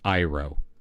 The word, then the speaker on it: Euro: for 700 freaking Euro I do know how to say Euro in German it's iro all right like you're